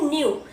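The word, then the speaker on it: ν: वो बनेगा tilted v, जिसको हम प्रोनाउंस करते हैं न्यू, NEW, न्यू मतलब नया, ठीक है, but this thing is न्यू।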